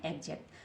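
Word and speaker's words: exact: तो एक् जट एक जक्ट क्या बन गया एजेक्ट अब आप कह रहे होंगे हमें क्या पता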